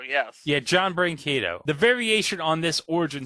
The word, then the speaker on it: Brancato: I hope I pronounce this right. John Brancato? John Brancato, yes. Yeah, John Brancato.